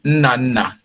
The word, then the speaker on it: Nnanna: Okay, so pronounce it properly so that I can, yeah. It's Nnanna. Oh, Nnanna.